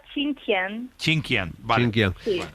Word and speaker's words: Xinjiang: ¿Cómo se pronuncia la ciudad en la que estaba, entiendo, tu abuela? Se pronuncia Xinjiang.